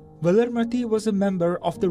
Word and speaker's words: Valarmathi: demise feels so sad pronounced unquote valermati was a member of